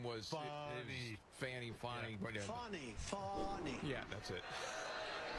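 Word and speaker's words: Fani: It's spelled Fanny like your ass, right, Fanny? But when she became DA, she decided to add a little French, a little fancy. Fonnie.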